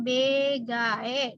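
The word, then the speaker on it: 베개: Ini B, lalu konsonan G dengan vokal gabungan AE. Tulisannya BGE, dibacanya BG. BG.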